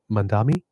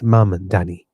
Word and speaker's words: Mamdani: desk to announce that the victory went to Mandami, I believe his name is.